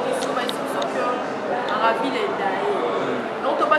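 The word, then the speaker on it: Maravilia: Maravilla, c'est mon âme. Maravilla est coquille. C'est en portugais. En portugais, c'est Maravilla. En français, ça s'écrit Maravilla. M-A-R-A-V-I-L-I-A. En français.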